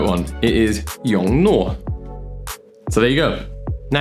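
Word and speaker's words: Yongnuo: And I'm guessing, once again, you may have butchered their name, just like these guys. The Young Nuo.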